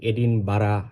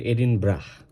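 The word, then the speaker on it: Edinburgh: পরীক্ষায় আসতে দেখা যায় আমরা অনেক সময় এটা প্রোনাউন্স করি এডিন বারা এডিন ব্রো এই এইভাবে বাট দিস ইজ এডিন ব্রা বানানটা বি ইউ আর জি এইচ হলেও এটার উচ্চারণ হবে এডিন ব্রাহ রিপাবলিক অফ আয়ারল্যান্ডের ক্যাপিটাল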